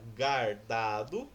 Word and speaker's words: guardado: Você pronuncia a letrinha U, o fonema U.